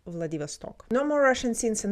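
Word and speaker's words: Владивосток: Did you hear how he said Vladivasto? Vladivasto with the stress on the last O.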